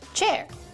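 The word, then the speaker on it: Qier: Hi, I'm Cher Wang, spelled Q I E R, pronounced chair.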